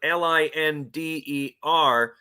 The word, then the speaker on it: Linder: it on the Chiron you have to spell it l i n d ER because it's Linder remember that that's that's